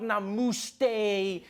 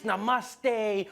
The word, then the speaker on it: namaste: People were coming on like, dude, it's not namaste, it's namaste.